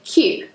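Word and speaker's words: queue: different pronunciations this work I've had cooler where I've heard qu but really we just say cue cue one syllable and everyone knows that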